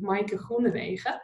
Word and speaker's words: Maaike Groenewege: And the things you actually have to do to get my own name pronounced properly, Maaike Groenewege.